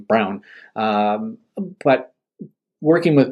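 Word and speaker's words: Braun: you call call him Brun because that's kind of the way b r a u n but he pronounces his name Brown um um but working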